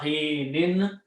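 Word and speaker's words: حِين: Okay, so the final words will be hatta hinin. When you stop, pronounce hin.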